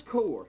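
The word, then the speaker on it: Kore: These are the spots in your feasts of charities, because we're fixing to find out who Kor is.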